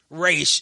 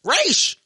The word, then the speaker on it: Ra's: z nah it's a s but it's it's pronounced race if you look up the pronunciation is r a apostrophe s race Roz is is Rachel ghoul no no Raw